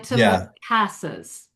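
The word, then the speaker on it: antimacassars: The the stress is on the cast. An antimases. The auntie macasses.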